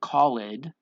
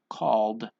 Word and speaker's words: called: don't say Khalid and we don't say cult no we say called called cleaned offered damaged right we just have that D sound right no other vowel is necessary when we say these because of the consonant that it is following right so the L